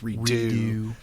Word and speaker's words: redux: I know you're not supposed to say Redux. It's redo. I like saying it ducks because... Is that like a French pronunciation? It's a French word. Okay. And the ducks is do.